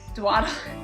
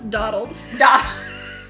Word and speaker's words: dawdled: I dwaddled on my own, making up dwaddle. I said that right? No, it's dawdled. Oh, if it was dwaddled, the W would be before the A.